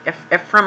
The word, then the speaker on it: Ephraim: Goodweather, Ephraim, I think his name is pronounced, but everyone calls him F.